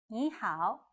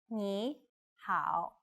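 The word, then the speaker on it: 你好: how was start by saying Nihao which means hello knee how then say which means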